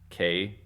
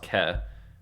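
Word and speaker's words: καί: an i sound but whenever an A and I are together it makes an e so it's K but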